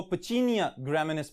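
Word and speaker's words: Puccinia graminis: fungus का नाम है पक्सी निया ग्रेमन ऑलराइट अब अगर हम इसको थोड़ा सा और यूरोपियन एक्संड मिले जाए तो इसको पची निया ग्रामस भी कहा जाता है लेकिन हम अपने स्पेलिंग्स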